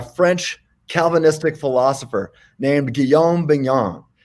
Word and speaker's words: Bignon: Calvinistic philosopher named Guillaume Bingham right it's kind of hard to say it rhymes with filet mignon that helps me you